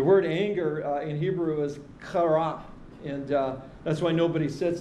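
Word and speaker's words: חרה: in the front row, in case I have to pronounce that C-H or K in Hebrew. You can't really do that without saliva coming out of your mouth. If you can practice in front of a mirror, if you hit the mirror, you've pronounced it correctly.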